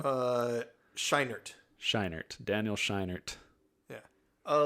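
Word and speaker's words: Scheinert: I was a little surprised how do you pronounce his last name uh shinert sheinert Daniel shinert yeah a little surprise on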